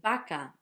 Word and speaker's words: vaca: You're lucky because I can make vaca, vaca, and you know which one I'm saying.